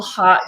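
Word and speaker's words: Haute: Called Hot Dog. But Hot is spelled H-A-U-T.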